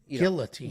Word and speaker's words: guillotine: guillotining guillotin meaning Guillotine Gil you pronounce the L Guillotine Guillotine chippy in the first